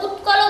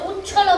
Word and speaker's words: উৎকল: তোমার গানটা এমনি ঠিকঠাকই আছে, কিন্তু তোমার উচ্চারণে কিছু ভুল হচ্ছে। যেমন তুমি বলছো হচ্ছে কি দ্রাবিড় উৎকল বঙ্গ হবে, তুমি বলছো উচ্ছল বঙ্গ।